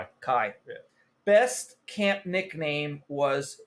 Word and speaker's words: Cai: How would you pronounce CAI? Kai.